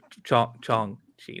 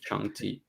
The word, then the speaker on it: Shang-Chi: I like Shang-Chi too. Thought that was quite good. Chong-Chi, not that. Shang-Chi.